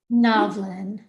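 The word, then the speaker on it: Novlan: Novlin. As in novel, as he said, as in novel.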